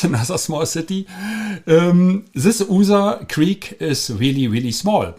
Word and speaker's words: Usa: And we have a small creek, and this is called User. The writing is USA, but the name is User in German pronunciation, USA.